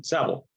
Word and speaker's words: Seville: It's Irish, and it used to be pronounced Saville, and it did not have the ILLE, did not have the French appearing ending.